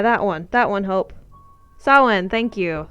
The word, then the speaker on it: Samhain: I forgot how to pronounce it. Yeah, that one. That one, Hope. Samhain, thank you. Samhain.